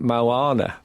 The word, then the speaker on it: Moana: And then I realised you actually pronounce it Moana.